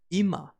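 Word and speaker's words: 今: thing here is that the kun reading for now right now is EEMA which fits perfectly into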